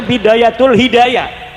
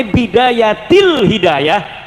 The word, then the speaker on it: Bidayatil Hidayah: Karena deke maca Bidayatul Hidayah. Harus sebah dibacanya Bidayatil Hidayah karena anak huruf jerbe.